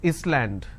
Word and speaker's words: island: example solution all right but if i have a word which is island i don't pronounce this as island so s is silent here okay for example if